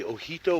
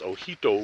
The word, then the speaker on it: Ojito: hike, check out the Hoodoo Wilderness. And in case you're wondering how to spell that, it's actually O-J-I-T-O. So it looks like Ojito, but the J is pronounced like an H, so it's Hoodoo Wilderness.